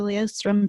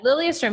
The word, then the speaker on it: Lilyestrom: be talking with Lee Ostrom today I always say your last name wrong maybe you can redo that Fred Lilly astrum yeah you got it it's all good and